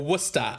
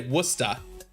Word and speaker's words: Worcester: Yeah, it's spelled that that's pronounced Worcester or Worusta, I should say. Worusta.